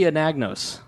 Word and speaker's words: Anagnos: And joining us is Anagnos. Very good. I said it right. You said it correctly.